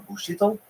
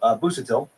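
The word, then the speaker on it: Busuttil: Bushito. Why am I saying his name? The Japanese pronounce now. My brain is just going on autopilot. Busatil. Dr. Ronald W. Busatil? No, Busatil, executive chairman of UCLA's surgery department.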